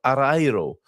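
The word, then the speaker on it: Areeiro: this evening at the Junto de Fragazia de Arro. That is one of the hardest Portuguese neighborhoods to pronounce, I would say.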